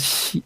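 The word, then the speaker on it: 希: And the meaning of last phrase, xi, okay, it rhymes with e, okay, e, this e, e, okay, it rhymes with xi, okay, all right, okay.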